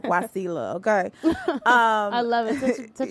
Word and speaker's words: Wasila: is wasila and it was actually supposed to be pronounced washi lot but my mama felt like that was just too much so she was like guacilla okay i love it